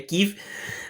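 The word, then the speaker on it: Kyiv: E lá em Kiev, né, ou Kiev, quem quiser falar em ucraniano, a pronúncia certa da capital da Ucrânia é Kiev.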